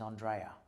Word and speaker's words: Andrea: well I was on my actual last name is Andrea um as in the best way to explain it to someone is Andrea belli because it sounds cooler when you say it like that um but at at school in Australia because my dad didn't put a thing on the E so everyone used to call me Peter Andrea so it was a